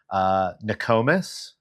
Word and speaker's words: Nokomis: Nokomis.